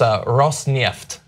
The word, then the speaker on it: Rosneft: I JUST WANT TO GO ON THE RECORD AND SAY I WAS WRONG, IT'S ROSNEFT. I WAS GOING TO SAY, THE FIRST TIME YOU PRONOUNCED IT, IT WAS GREAT.